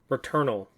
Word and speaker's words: Returnal: This game, it's called Returnal. Like Eternal and Return.